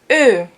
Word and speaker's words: Ö: So you know O, and you put the two dots above it, and it's Ö.